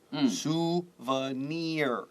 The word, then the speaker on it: souvenir: O-U is O-O, right? Two O-O's. And N-I-R is long double E. Near, souvenir.